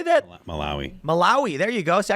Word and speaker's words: Malawi: Maloi. Malawi. How do you say that? Malawi.